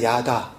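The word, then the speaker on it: ידה: 깨닫다 하나가 되다 예 그 야는 그냥 야다 이게 좀 짧게 끊어져요 뭐 굳이 분을 하자면 그런데 지금 감사하다 고백하다 찬양하다 뒤에 해가 있기 때문에 발음이 좀 장음으로 다라고 좀 이렇게 길게 되어지는 발음이에요 하여튼 그까 오늘 1절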